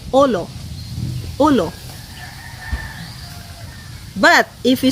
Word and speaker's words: ulo: So for example, ulo, that's pronounced as U-L-O. We don't say ulo. No, We just say olo, olo.